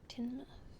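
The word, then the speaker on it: Tynemouth: Pronounced Tinmouth.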